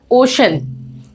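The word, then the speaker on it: ocean: ओशन। क्या pronounce किया हमने इसे? ओशन। तो ऐसे जो वर्ड्स हैं यहां पे हम इसे सी को श बोलेंगे, ओशन।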